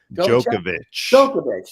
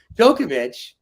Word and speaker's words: Djokovic: how do I say his name Dover chick Djokovic that's why I can never say it Djokovic by the way wins his fourth U.S open